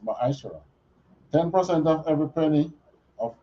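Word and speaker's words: מַעֲשֵׂר: Means tenth in Hebrew and is pronounced ma'ashara.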